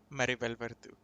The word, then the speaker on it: Maribel Verdú: And yeah, all the actors are good in it, especially, how do you pronounce her name? Maribel Verdú? Maribel Verdú.